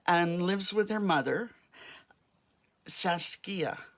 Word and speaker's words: Saskia: She's very much, she's a single child and lives with her mother, Saskia. I often pronounce that wrong, but that's the way it's pronounced, and calls her Sash.